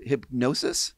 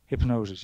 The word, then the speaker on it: Hipgnosis: circle the story and you pronounce it hypnosis hypnosis yeah right um so